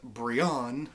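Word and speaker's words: Brion: First of all, it turns out his name is pronounced Brian, because it's Brian with an O, and he's not even the leader.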